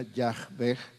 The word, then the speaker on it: Yahvé: en fonética hebrea serían algo así como yh W H las H sonando como j y la W sonando como V Entonces porque está escrito con puras consonantes y porque los hebreos dejaron de pronunciar el nombre de Dios por miedo a tomarlo en vano la pronunciación correcta se perdió lo más cercano sería yahve y como está escrito en nuestra Biblia en la versión Reina Valera 1960 es Jehová mismas consonantes otras vocales